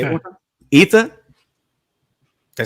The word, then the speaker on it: Jytte: So how do you pronounce that? Yitha. Wait, say it one time. Yitha?